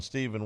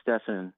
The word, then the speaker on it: Stephen: Stephen, welcome into the show. It's Stefan. Oh, sorry. It's spelled the same.